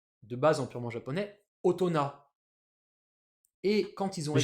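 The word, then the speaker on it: 大人: Du coup, ce truc, indépendamment des lectures purement japonaises et indépendamment des lectures sino-japonaises, ça se prononce avec une lecture qui vient d'ailleurs, purement japonaise, otona.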